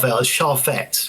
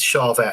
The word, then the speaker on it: Charvette: It's not a Char, Charette, which was something that Jackson and Char Jackson were doing. This is Charvette, and it was a reverse dinky um super strap."